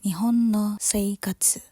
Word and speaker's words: 日本の生活: ada yang tahu enggak kanjinya judul Kita dibacanya apa Aku ngerasa sambil belajar dikit-dikit kali ya kanji itu tuh bacaannya nihon no Sei Katsu kalau diartiin life in